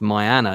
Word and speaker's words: Marieanne: Also, Marieanne, which is pronounced Marianne in Danish, definitely married.